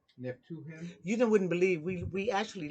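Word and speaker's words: Naphtuhim: Nah, Nay, to him. Not Neph- to him. Neptuhim.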